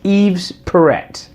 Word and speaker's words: Yves Perret: Yves parrot YZ Perret because nobody knows how to pronounce pronounce right friends think it should be Eve perfect but it's Eve's parrot I think they call him parrot they look no Perret that's it Perret he's is Yves Perret because there's the dialogue